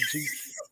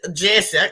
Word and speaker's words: Jussie: I don't think his name is pronounced Juicy. That's the first problem. I don't think it's somebody. I don't know who it was used to call him Juicy. But we know it's Jesse.